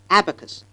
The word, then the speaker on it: abacus: it is pronounced because the first syllable receives the stress and not the second so the initial a must be long and it is pronounced Abacus access well Indians emphasize